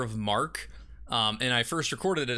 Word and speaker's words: marque: video, I was like, is it actually letter of marquee? And then I like Googled the pronunciation, and it is letter of mark, and I was like, fuck.